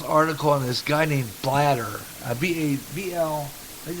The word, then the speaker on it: Blatter: I saw this article on this guy named Blatter. B-A-B-L, I think it's pronounced B-L-A-T-T-E-R, Blatter or something like that.